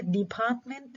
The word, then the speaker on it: department: إيش يعني الappropriate syllable؟ المقطع اللي بيكون عالي الستريس. في كلمة department الستريس على المقطع الثاني زي ما احنا شايفين الكابيتالايزد بارت department store.